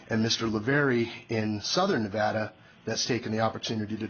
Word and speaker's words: Nevada: This is with the Nevada Trail Stewards. A couple of points of order before we start is, number one, something that seems to be brought up quite often. It's pronounced Nevada, not Nevada, and I'm sure that all of